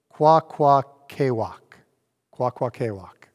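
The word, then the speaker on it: Kwakwakaʼwakw: rejoicing we who are kawaka waka oh i need to make sure i say it right i had it so good before i had to say it quack quack walk okay that's the name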